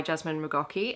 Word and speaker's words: Jasmin McGaughey: Today I'm here to review Moonlight and Dust by Jasmine Mocki. And I mispronounced this in my video on the other channel, but I did actually look up how to pronounce her name.